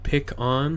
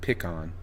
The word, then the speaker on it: pecan: all I know is all I know is pecan like pick on yeah is like New England okay pick on pecan pecan pie is